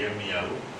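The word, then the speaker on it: ירמיהו: Je l'appelle jamais Jérémie, mais Yirmiyahu, bien entendu. Et comme l'ensemble des prénoms en hébreu, ils doivent être prononcés en hébreu. C'est comme Juan pour Juan, ça ferait malvenu. Donc c'est Juan, c'est Yirmiyahu, en dehors du fait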